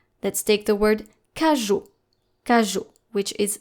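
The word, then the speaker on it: cageot: Let's take the word kaju. Kaju, which is spelled C A G E O T.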